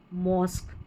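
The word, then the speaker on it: mosque: यह इ है ना इसलिए लास्ट में रहेगा पैटर्न यहां है यूनिक टेक्निक और मॉस्क मॉस्क क्यू नहीं बोलते मॉस्क क्यू यू ई याद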